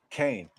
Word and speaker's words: Cain: I pronounce it Cain, like Kane, like Big Daddy Kane.